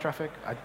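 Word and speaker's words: Traefik: Apparently, it's meant to be pronounced traffic.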